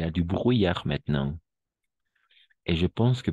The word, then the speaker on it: brouillard: Ah, brouillard, brouillard. ¿Bru? ¿Bru? Ay, brou. ¿Bruillac? Bruy, alors, si tendría que escribirlo como pronunciamos, lo escribo. ¿Bruillac? Oui, c'est ça. Bruyar. ¿Bruillac? Bruyar. ¿Bruillac? Perfecto. Bruyar. Merci. Bruyar. Bruyar. Oui, exactement. Hasta la R nomás.